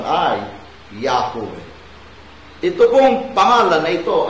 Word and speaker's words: Yahweh: Yahweh ang transliteration, pero ang tama, correct pronunciation ay Yahweh.